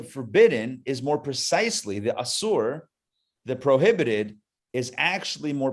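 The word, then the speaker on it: אסור: But more precisely in Hebrew, The word for forbidden is asur. Asur. In English, you might spell it A-S-U-R, asur.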